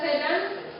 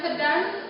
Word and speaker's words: sedan: Jadi sedan yang sedan yang pertama itu diucap huruf E-nya diucapkan pepes misalnya sedan yaitu tangis kecil. Dan kata dan pada kata sedan yang kedua e-nya diucapkan terang. yang berarti jenis mobil penumpang.